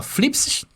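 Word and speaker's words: θλῖψις: vocês se ler né se ler ali ó Philips que é assim que se pronuncia tá bom e a definição é tribulação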